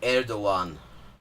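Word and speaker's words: Erdoğan: uh first of all it's erdogan that g is pronounced like sort of a w thing oh another invasion of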